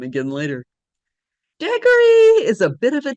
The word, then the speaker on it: Degory: Degory rhymes with Gregory, and it's often written that way.